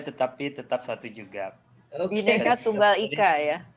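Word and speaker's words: Bhinneka Tunggal Ika: Bineka Tunggal Ika ya. Bineka Tunggal Ika.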